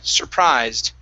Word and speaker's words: surprised: Here, this word, instead of surprised, okay, the UR is pronounced sir, surprised. Try that. Stress at the end of the word.